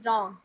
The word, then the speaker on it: wrong: Which letter is silent in wrong? W, W. Excellent.